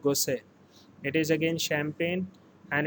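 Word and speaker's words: Gosset: popular champagne brand is called gosei here t-word is silent again i'm repeating it is called gosei it is again champagne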